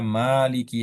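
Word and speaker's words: مَالِكِ: Riwayat hafaz dari Asim kita membacanya Maliki yaumiddin. Mananya panjang ya.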